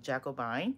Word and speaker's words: Jacobine: But Jackie is what I was known ever since I was in school, because some people had a hard time pronouncing Jacob and then.